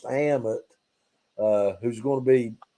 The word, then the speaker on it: Ammit: falling under the spell of this egyptian god pronounced ammit uh who's going to be played by sophia